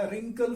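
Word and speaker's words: wrinkle: Characteristics क्या है इसकी, खास लक्षण इसके, तो पहला रिंकल फ्री, डब्ल्यू साइलेंट है, ये डब्ल्यू इसकी आवाज नहीं आती, साइलेंट है, गूंगा है।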